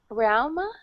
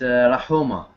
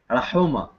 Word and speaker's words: Raha: um we have um RMA is that the correct pronunciation maybe yes hello you said maybe what is the correct correct pronunciation of your name uh it's Raha okay say it again Raha Raha yes is that